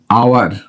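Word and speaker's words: hour: করছি করছি না কিন্তু এইচ টা কিন্তু নীরব বা সাইলেন্ট থাকছে আপনি যদি এইচ টাকে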